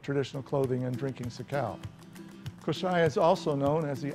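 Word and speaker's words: Kosrae: Koschei, correctly pronounced Koschei, is another beautiful island with lots of rain.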